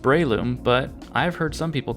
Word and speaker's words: Breloom: It's pronounced Breloom, but I've heard some people call it Breloom, and that's understandable I guess.